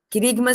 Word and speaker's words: querigma: Querigma se escreve com K. Querigma. Com G mudo.